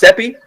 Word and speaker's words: SEPI: Now we move to the presentation, and I believe this is, how is it pronounced? SEPI?